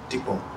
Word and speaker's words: Dikko: So, am I pronouncing this Dikko? Dikko.